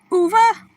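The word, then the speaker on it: uva: V is pronounced like a B. Oo, like Uber.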